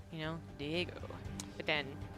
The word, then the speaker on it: Diego: swam across every sea, it is Kelazhur, aka Diego Swimmer, aka Schwimmer. Diego's such a cool name, you know, Diego.